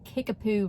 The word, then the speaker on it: Kickapoo: And I got my first speeding ticket on Kickapoo Road. That's right, Kickapoo. It is spelled Kick-a-poo.